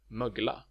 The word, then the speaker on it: mögla: Some words, such as mögla, can be pronounced with either a short or a long vowel.